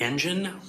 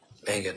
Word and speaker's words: Engen: Is it Engen, like an engine, or is it Engen? I thought I heard her say Engen. It's the latter. Engen, I think.